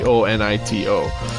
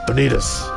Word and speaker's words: bonito: names in English but this person didn't know bonitos bo NIT oh so they and he's Sam Neal's his pronunciation is not great you know he's from New Zealand give him a break he's like penitas and the subtitles at